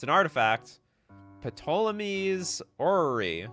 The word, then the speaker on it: Ptolemy's: So the P is silent. I completely agree with you. Ptolemy's Orrery.